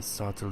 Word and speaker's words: subtle: also, as you said, there has been a subtle difference between empathy and sympathy. And yeah, okay. So let me focus on your mispronunciations first, and then, if time permits, we will have a discussion over that.